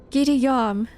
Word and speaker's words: gidiyorum: The T changes to D. Gidiyorum? And the word yorum is pronounced yam. Huh? Gidiyam. Oh, interesting.